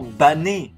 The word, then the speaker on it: Bane: D'ailleurs, il arrive qu'on prononce réellement Bané.